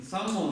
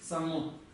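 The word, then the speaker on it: བཟང་པོ: Вот это то, что произносится иногда как зам. Но мы читаем это как сам. И так как стоит приписная ба, я напомню, то какой это тон у нас будет? Высокий.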